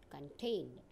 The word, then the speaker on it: contain: These words have stress on second syllable when they are used as a verb. Now see again the pronunciation and listen it carefully. Record, conduct, contain.